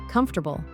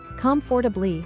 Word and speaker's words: comfortable: Then the pen said, "Comfortable." "Comfortably," Arjun tried. The pen corrected him. "Actually, it's usually pronounced comfortable. English spelling is tricky sometimes."